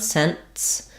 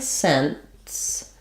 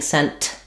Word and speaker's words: sense: technically no sense has a stopped T sound sense where um it's going to have the SE